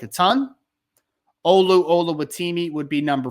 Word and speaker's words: Oluwatimi: I'm just going to call him Olu because I think I just butchered his first name terribly, but Oluwatimi is how you pronounce the last name. So at least I got the last name right.